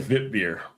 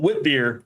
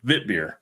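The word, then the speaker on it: wit beer: there because you said vit beer and it's like I love when people pronounce the beer stuff the way it's supposed to be. Not whip beer, vit beer.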